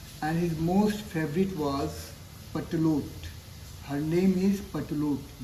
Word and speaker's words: Pertelote: तो उसकी 7 पत्नियां थीं, एंड his most favourite was पटलोट। Her name is पटलोट। The spelling is PERTELOTE।